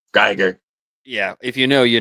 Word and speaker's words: Giger: oh I know yeah you might be saying it right I just I just I'm used to saying gerer yeah if you know